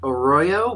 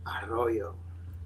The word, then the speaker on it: Arroyo: Well, I should have asked beforehand, but Danny, last name is pronounced the Spanish way normally? Or it's pronounced Arroyo, but if you want to be cool, it's Arroyo.